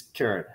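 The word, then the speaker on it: caret: little hat or correct turret how do you pronounce it I always said Kure but apparently I'm wrong yeah I looked it up and it's carrot it's just spelled like this French apparently not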